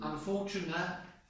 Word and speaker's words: unfortunately: This is the strong syllable. Unfortunately. But when people are speaking very quickly in English, right? They often lose one of the syllables.